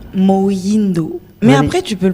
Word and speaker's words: Moyindo: Alors, moi si Mouindou. Bonsoir. Bonsoir Yoshi. Mouindou ou Moindo? Moindo.